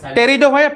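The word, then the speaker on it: Pteridophyta: আচ্ছা যদি are parts দেখা যাচ্ছে, হ্যাঁ টেরিডোফাইটা পি সাইলেন্ট, ঠিক বলেছে।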